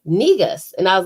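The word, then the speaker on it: negus: no so we you know she was like negas and i was like spell it and she was like n-e-g-u-s and it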